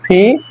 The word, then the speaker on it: P: হবে খেই, তারপর ওর উচ্চারণ হবে ও, পির উচ্চারণ ফি, এবং কিউর উচ্চারণ হবে কিউ।